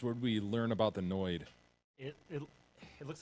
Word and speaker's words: Noid: So they were trying to avoid the noid.